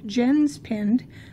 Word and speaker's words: Jenspind: It's spelled Jenspind, but it's pronounced Jenspind.